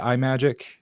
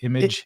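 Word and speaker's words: Imagick: Is it iMagic? Is it image? Imagi-CK. Imagi-CK. Imagi-CK.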